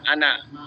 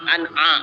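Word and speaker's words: أنا: Bahkan wala ana abidun, maka ada yang bacanya an'a ya, an'a. Padahal salah kan, harusnya kan ana ya, bukan an'a ya.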